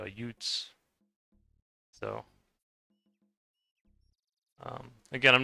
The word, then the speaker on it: Jutes: pronounce it angles and saxons and jutes or I think the Norse way would be utes.